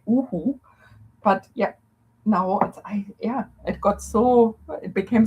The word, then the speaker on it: UHU: I love the English pronunciation of yoo-hoo. Sounds for me like yoo-hoo. Yes. And I have been in New Zealand for 23 years by now, I think. And yes, it's uhu in German. And it's yes, and usually I would say uhu.